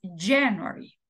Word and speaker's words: January: la entonación es diferente Cuál es la sílaba tónica en inglés January es la primera february es la primera